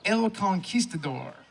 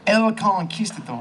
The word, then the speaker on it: El Conquistador: So we hope you enjoy El Conquistador. Am I saying that right? You have to roll your R in that.